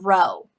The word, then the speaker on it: rho: And the parameter for the correlation is this Greek letter rho. It's not a P, that is the Greek letter rho. I'll go ahead and spell it for you.